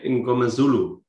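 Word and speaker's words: Mngomezulu: Sasha Ngomazulu, I think I've pronounced it.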